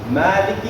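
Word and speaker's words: مَالِكِ: Maliki is 2 counts. Liki, short, downward pronunciation. Maliki, not Maliki. Maliki Yawmiddin.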